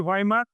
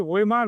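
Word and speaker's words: Weimar: ওই উচ্চারণে আমরা বলি ভাইমার, যেটাকে আমরা বাংলায় বলি হচ্ছে ওয়েমার প্রজাতন্ত্র।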